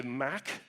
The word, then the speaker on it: MACH: um by the way if you're in Europe you say mac the Mac Alliance uh I call it mock whatever uh jury still